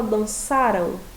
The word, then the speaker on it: dançaram: Quando a gente fala dançaram, qual que é a sílaba tônica? O sa, não é isso?